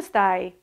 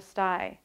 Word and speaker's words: stai: Did you notice that in the first example, the word ciao has a long vowel, and stai at the end is also a long vowel. But the American pronunciation cuts off the vowel sounds.